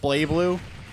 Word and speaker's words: BlazBlue: It's pronounced Blay Blue.